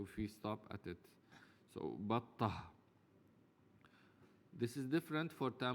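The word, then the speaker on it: بطة: We mentioned before that batta can also pronounce as battatun, but we pronounce it as batta because we can stop at ta. If we can stop at ta marbuta, then we have to.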